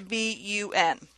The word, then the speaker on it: BUN: of it the abbreviation B UN for blood urea nitrogen is commonly used in the healthcare setting it is pronounced letter by letter B U and not